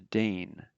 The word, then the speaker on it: den: of the definite article from dare to dane that's how you pronounce that d and dane but